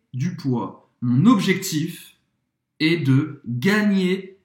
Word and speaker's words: poids: Gagner du poids. Peso em francês. Poids, você não vai pronunciar nem o D, nem o S.